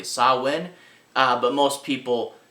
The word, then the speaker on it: Samhain: never confirmed this probably uh how do you pronounce it correctly sawwin uh but most people mispronounce it as uh samhain was where he gets his name but uh